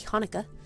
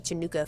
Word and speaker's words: Hanukkah: I once taught some kids, and they were playing a song called Happy Hanukkah, but Hanukkah was spelled Chanukah, so I just pronounced it Happy Chanukah forever. And for a while, instead of Hanukkah, I was saying Chanukah, and people got so mad. It's a terrible mistake.